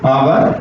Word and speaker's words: hour: तो आवर में स्वर की ध्वनि आ रही है, तो यहाँ पर एन का यूज करेंगे।